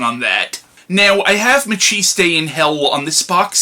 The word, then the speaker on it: Maciste: Although, at the time, I kept pronouncing the character's name as Mackist. I kept pronouncing it as Mackist in hell because I didn't know how to properly say the character's name. But I'm pretty sure it's Machis Day, but I could be wrong on that.